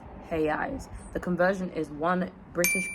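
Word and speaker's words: reais: If there's an R at the beginning of a sentence, it's usually at the at the beginning of a word, then instead of it being a sound that we're used to, it's a her sound. So he eyes instead of royale and he de Janeiro instead of Rio de Janeiro.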